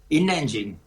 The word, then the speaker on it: INNengine: InEngine. Es innovación, INN de innovación y engine en inglés, que es el motor.